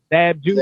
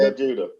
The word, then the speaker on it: Zab Judah: Zab Judah. Zab Judah.